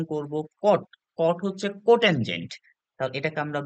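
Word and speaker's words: cot: করবো টান আচ্ছা এরপরে কোটানজেন্ট কে আমরা সংক্ষেপে উচ্চারণ করব কট কট হচ্ছে কোটানজেন্ট এটাকে আমরা বলবো হচ্ছে উচ্চারণ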